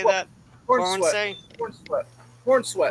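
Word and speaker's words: Corenswet: As everybody knows, the new Superman movie has been released, starring David Corensay. Am I pronouncing that correct? Is that the right way to Corn say sweat. that? Corn sweat.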